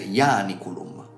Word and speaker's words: Ianiculum: dato che la I è segnata come breve, l'accento retrocede a ia e quindi dovrebbe essere ianiculum.